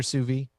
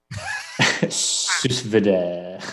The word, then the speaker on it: sous vide: Have you cooked anything other than steak in your sous vide?